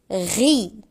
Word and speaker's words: riz: ri ri ri ri le riz on prononce pas le Z le R la rue par le riz la rue par le Diad imad et.